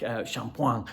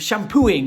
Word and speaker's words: shampoing: When I'm looking back and thinking about some of the French words on my French list, like shampoing for and I kept pronouncing it shampooing, and people were laughing at me.